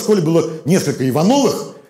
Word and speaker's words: Иванов: У каждого в школе было несколько Ивановых, и один какой-нибудь вставал в позу. А я Иванов, а не Иванов. Вот так. Понятно? Я такой, о, блин, про тебя еще ударение помнить.